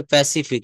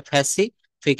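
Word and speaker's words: Pacific: তারপর হচ্ছে প্যাসিফিক, এটা ফ্যাসিফিক।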